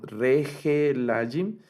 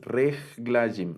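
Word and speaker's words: רַגְלַיִם: Aquí noten que no leemos Regelajim, sino que este Sheva, como estamos platicando hace un momentito, no suena. Entonces, Reglajim, Reglajim, Reglajim, piernas, ¿verdad?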